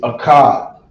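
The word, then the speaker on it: אחד: So how you say one in the Hebrew is a cod. This will be English. On this side here, we're gonna do Creole. All right. So we got number 1 in the Hebrew, which is a cod, and in Creole, how you say one in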